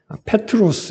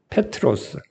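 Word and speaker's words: Πέτρος: 이이 베드로 베드로와 반석이 베드로는 이제 헬라오 발음으로는 뭐 저도 정확하지는 못하지만 그냥 알파벳을 읽어 보면 페트로스 이렇게 발음이 되거든요. 페트로스 이렇게 되는데이 반석은 페트라 이렇게 발음이 돼요.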